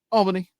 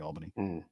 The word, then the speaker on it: Albany: Albany. Albany, that's how we are here. Yeah, but some people, like, really emphasis on the bunny part of the Albany.